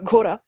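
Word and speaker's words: घोड़ा: ghora. the D in the middle, which I'm not pronouncing correctly. This is a sound that we do not have in French.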